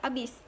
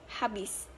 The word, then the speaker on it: habis: Pengucapan habis dalam bahasa tidak baku adalah abis, sedangkan dalam bahasa baku habis.